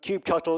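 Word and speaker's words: kubectl: application with cuba Nettie's so cube cuttle is the cuba Nettie's command line some people pronounce it differently but they're wrong that's the apps this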